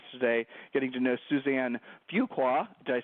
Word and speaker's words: Fuqua: of the podcast today getting to know Suzanne Fuqua.